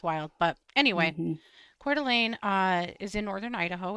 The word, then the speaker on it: Coeur d'Alene: It's French. Okay. It's French. Codularon. And yeah, it's wild. But anyway, Cordelane uh is in northern Idaho.